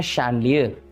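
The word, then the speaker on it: chandelier: तो ये कहलाते हैं शैंडलियर, ओके। तो बात चीज़ों की नहीं है, बात है इनके प्रोनाउंसिएशन की। यानी यहाँ पर एक बात गलत हो गई कि शा साउंड कभी कभी SH या सा, S के अलावा CH से भी आ सकता है, ओके।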